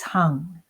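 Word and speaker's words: Heng: The sound is hung, hung, spelled H-E-N-G, pronounced hung.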